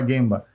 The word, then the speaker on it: gemba: Se escreve gemba, se fala guemba.